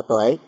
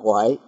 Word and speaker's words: Huệ: là cái chữ Tuệ cái người miền Trung miền Bắc thì đọc là Tuệ còn người miền Nam chúng ta đọc là Huệ đó thì Trí Huệ